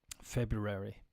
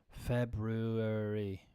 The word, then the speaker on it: February: The Y heard from many speakers is not an intrusion, rather a common pronunciation of the vowel U after the consonant, as in January and annual.